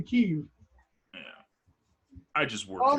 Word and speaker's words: Kyiv: Just like Kiev is actually Kyiv.